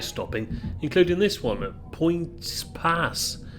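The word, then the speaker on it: Poyntzpass: I will leave Portadown and pass through several other small stations without stopping, including this one at Points Pass, I think it's pronounced, which I thought was notable, if only for its unusual name.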